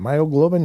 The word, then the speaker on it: myoglobin: inserted with Mammoth gene myoglobulin or myoglobin how do you say that myoglobin yeah with a soup a